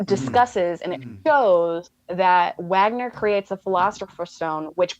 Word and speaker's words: Wagner: It's Wagner because it's German. They pronounce the W's as E's. It's Wagner. The Americans say Wagner, so we can say both.